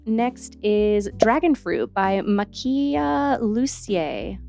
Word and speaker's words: Makiia Lucier: is dragon fruit by Makia lucier I think is how you pronounce it this one pretty